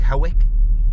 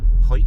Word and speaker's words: Hawick: we've arrived in hike when you read it it looks like hawick but uh it's pronounced hike and this is like